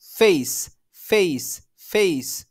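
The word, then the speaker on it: face: উচ্চারণে কিন্তু চেঞ্জ আসছে আমি যদি এটা বাংলা ফ এর মধ্যে উচ্চারণ করি কেমন লাগবে দেখেন ফেইস ফেইস কিন্তু আমি যদি এটা সঠিক ভাবে উচ্চারণ করি তাহলে কেমন শোনাচ্ছে দেখেন ফেস ফেস ফেস okay so এটা আপনাকে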